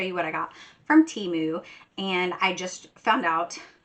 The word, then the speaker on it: Temu: had a commercial, that they pronounce it Temu, and no, I'm gonna still call it Temu, because that's what I think it is, and nobody can change my mind.